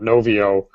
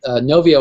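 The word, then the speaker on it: Knovio: There was a couple of questions that came in about Novio, and people in the question were actually misspelling it.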